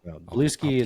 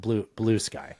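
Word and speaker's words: Bluesky: Blueski, it's I believe it's by the people that created Bluey. They have a social media account now. I'm being silly. It's pronounced blue sky.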